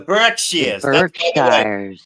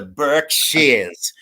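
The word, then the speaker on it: Berkshires: The Burkshars. No, the correct pronunciation is the Burk Shears.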